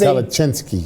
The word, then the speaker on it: Kalecinski: and he said, Tarek, my name is Kalecinski. It is Kalecinski. a Polish name.